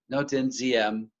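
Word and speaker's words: Ngô Đình Diệm: this man's name is Ngo Dinh Diem. That's spelled D-I-E-N. It's kind of, there's a Z sound to that one. Ngo Dinh Diem.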